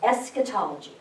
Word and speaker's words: eschatology: It's a Greek word, and it means last study.